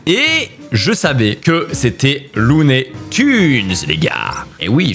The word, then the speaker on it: Looney Tunes: Et je savais que c'était Lunet Tunes les gars. Et oui, je sais qu'on dit lunet Tunes mais ça se dit ça s'écrit Tunes.